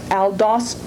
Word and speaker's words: aldosterone: And then the next one is pronounced aldosterone. Aldosterone or aldosterone. There's 2 different pronunciations for it. Aldosterone or aldosterone.